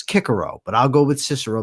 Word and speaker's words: Cicero: And notice I said Cicero and I didn't pronounce it correctly, Kikaro. But it's correctly is Kikaro.